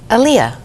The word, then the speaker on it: Aaliyah: And Saturday, August 25th, Aaliyah. Is that how you say her name? yes, Aaliyah.